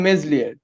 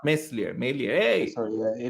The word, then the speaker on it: Meslier: but like look elon meslier he's he's fantastic he loves there he's good i don't know not messier you don't know your french pronunciation i don't know i don't